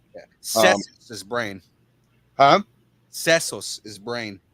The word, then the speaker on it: sesos: Sesos is brain. How do you say that? Sesos. Setos? Seso. Sesos. Yeah. I can't. With an S?